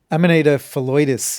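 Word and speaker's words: Amanita phalloides: Am I am I saying that right? Amanita felitus is the pronunciation I'm going to go with and that's because Dr. Tom May said it.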